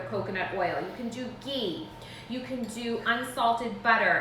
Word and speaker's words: ghee: You can do ghee. You can do unsalted butter at room temperature. Those would all totally work fine. There's actually a brand called Fourth and Heart, and they have a vanilla ghee, which I think would be amazing.